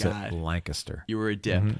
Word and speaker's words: Lancaster: We Oh, I pronounce forgot. it Lancaster.